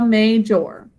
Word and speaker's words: major: And in this word, we put emphasis on the first syllable, major.